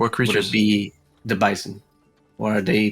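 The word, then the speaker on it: Bysen: B-Y-S-E-N, Bison. which is pronounced kind of the same way.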